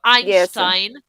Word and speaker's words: Einstein: and pronunciation differences so Einstein you you just have to pretend that instead of the E there's an a yes I I tried